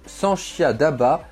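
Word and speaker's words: 三峡大坝: Le plus grand barrage du monde, ni plus ni moins, c'est un ouvrage titanesque, le barrage des Trois Gorges, prononcé Sanxia Daba pour les amateurs de chinois, est situé en plein cœur de la Chine.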